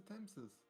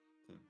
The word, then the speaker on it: Thames: Here's the Thameses. The Tame. Thames. The River Thames.